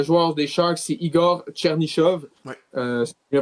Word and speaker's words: Chernyshov: Sinon, on a un premier but pour un joueur des Sharks, c'est Igor Chernyshov. Ouais. C'est bien prononcé son nom de famille.